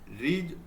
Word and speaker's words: ऋ: उच्चारण करते हैं ऋ। उच्चारण तो ऋ बोलते हैं इस तरीके से। आधा र प्लस छोटा इ।